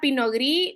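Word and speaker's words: Pinot Gris: Tenemos que la pinogrí viene de Francia, ¿verdad? Eh, acá la s no se no se es muda, ¿verdad?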